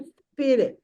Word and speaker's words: spirit: ई भी नहीं बोलना है, देखिए प्लीज ई नहीं बोलना है, रॉन्ग प्रोनाउंसिएशन नहीं, स से शुरू करना है। स्पिरिट स्पिरिट Spirit, बोलिए, spirit, स्पिरिट स्पिरिट spirit।